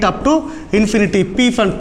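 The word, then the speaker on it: Pfund: P fund. P is silent here, so we call it as fund series for IR.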